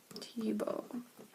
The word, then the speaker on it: Thiebaud: don't you alright Wayne Tibo this is how you spell his name but you say it like this t oh okay so we